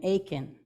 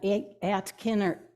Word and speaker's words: Aitkin: at the bottom named Aiken and I was told it's not at Kenner Aitkin although it's spelled like that but they call it Aiken and the people there